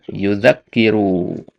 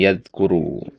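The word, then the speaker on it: يُذَكِّرُ: baris bawahnya waduauu yuzakkiru tadi antum bacanya yaadkuru kalau antum baca yaadkuru tasdidnya ke mana ya i kan tasdidnya enggak Ada kalau antum baca yazkuru berarti bukan yazkuru bacanya. Nah, karena kan sudah disediakan tasdid di situ. Adanya tasdid ini biar antum enggak baca yazkuru gitu ya. Jadi dikasih tasdid itu biar bacanya yuzakiru karena artinya beda.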